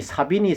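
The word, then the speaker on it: Savigny: 에 자 비니 이 독일 언론은 발음으로는 자비 닌데 영국 치기 예 발음으로 사빈 입니다 그래서 이제 0 혹시 우리가 이미 사비니 사비니 라고 많이 하니까요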